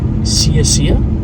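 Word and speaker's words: Sciascia: George from Canada now this is a weird last name s-c-i-a-s-c-i-a Sia I would assume that's how you pronounce that that was a murder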